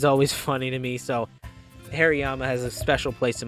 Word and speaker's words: Hariyama: I think like 5 years of my life, pronounced Hariyama, Harry Mama, and every single time I talked to my mom about it, she was like, why are you calling me Harry?